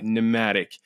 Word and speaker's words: Nmatic: That's spelled Nmatic.AI. Pneumatic.